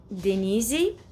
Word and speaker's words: Denize: Um, Denize, in is the way that we say it, we pronounce it in Portuguese.